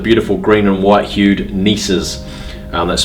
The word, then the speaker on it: gneisses: Some smothered in garnets, some what we call granitoid schist, and rarer still the beautiful green and white hued gneisses. That's spelled with a G-N-E-I-S-S-E-S.